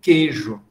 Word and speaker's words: queijo: A gente escreve queijo, mas pronuncia, a grande maioria das pessoas dizem queijo, porque o i semivogal desaparece, é absorvido pela vogal. A mesma coisa com beijo, com feira, com cadeira, série.